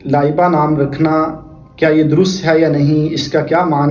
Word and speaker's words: لائبہ: لائبہ نام رکھنا کیا یہ درست ہے یا نہیں، اس کا کیا معنی ہے؟ تو یاد رکھیے لائبہ جس کے تلفظ آپ کو اسکرین پہ نظر آ رہے